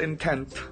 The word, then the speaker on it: Entente: And the Triple Entente, that's the correct pronunciation of French word.